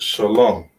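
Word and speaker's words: שלום: And we pronounce it Shalom.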